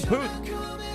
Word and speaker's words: Puth: Charlie Poof. Cappy. Charlie who? Oh, come on. His last name. Charlie Puth. Spell that for me.